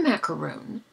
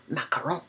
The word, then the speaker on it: macaron: criticize how she pronounced macaron when she was absolutely correct. It's the only way to pronounce it. It's not a macaroon.